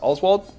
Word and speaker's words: Oswald: JFK was Lee Harvey Oswald that's how it's pronounced Oswald yes Oswald yeah he was uh arrested a couple hours